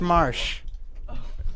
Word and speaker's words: Marsh: Haha, it's pronounced Marsh. Marsh, everybody from South Park.